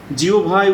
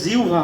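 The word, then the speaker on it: জিহ্বা: জিওভায় উচ্চারিত, এই উচ্চারণটা আমাদের ভুল হয়, এটা হবে জিউভা হবে, মানে হয় বয়ের আগে যদি রস্বইকার থাকে তাহলে উচ্চারণ হয় জিউভা।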